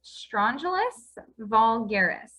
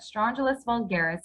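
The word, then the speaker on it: Strongylus vulgaris: stronger that large straw gel his name is strangelus vulgaris okay that's how you pronounce that strangelist vulgaris but a lot of people just call it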